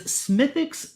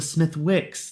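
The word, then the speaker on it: Smithwick's: Um, so the next one is Smithix Red Ale. I've just been informed that the Smith Wix the W is silent.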